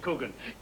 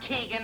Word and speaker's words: Coogan: Coogan. He knows my name. Sweetest sound there is to a man's ear, his own name. And pronounced correctly, too. Not Keegan or Cogan.